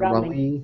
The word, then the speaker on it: Raleigh: Did I pronounce that right? Raleigh.